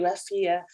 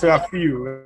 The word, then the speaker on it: Rafiu: Yes, we can hear you, Rafia. How do I say the name? Am I saying it right? Yeah, it's Rafiu. Rafiu.